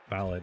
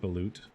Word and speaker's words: balut: this game oh here are the injuries wow ballot isn't that the like a the the like